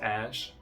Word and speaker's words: Æ: The A and E together is pronounced ash.